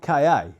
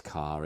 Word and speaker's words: Ka: The Ford KA.